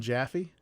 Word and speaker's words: Jaffee: He spells it with one E. Yeah, pronunciation same, different spellings.